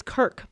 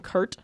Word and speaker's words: Kirk: It's Kirk, but the GM called him Kurt, Oh yes, that was great.